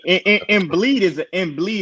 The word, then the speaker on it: Embiid: I mean, Embiid is a more appropriate name, Mars.